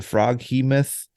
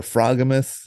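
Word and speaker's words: froghemoth: This also introduces the frog-he-myth or frogamyth, however you want to pronounce it. I've heard it both ways.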